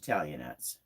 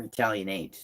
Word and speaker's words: Italianate: It's different than most Italianettes. Or Italianate. They pronounce it both ways.